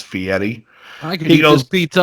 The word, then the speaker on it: Fieri: name correctly cuz guide correct someone how to pronounce it it's fee Eddie I can he goes